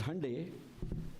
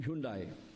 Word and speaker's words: Hyundai: heard, like Samsung, and Koreans call it as Hyundai, but in India it has become Hyundai. So Hyundai is that's how they pronounce in Korea, in Korean language.